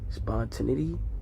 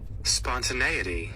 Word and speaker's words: spontaneity: Spontinity. Spawn. Spont. Often times when I don't know what a word is pronounced, I want to I get to look